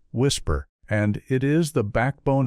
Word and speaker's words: WSPR: It is called the weak signal propagation reporter network or WSPR's pronounced whisper and it is the backbone of his claim to have solved what the world's largest search effort could not.